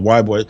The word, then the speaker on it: Ybor: So if you guys don't know anything about Ybor City, or Ybor, it's spelled, I think, YBOR, but they call it Ybor.